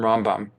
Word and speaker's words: Rambam: Now, Ramban is different from Rambam. That's why we emphasize the other syllable.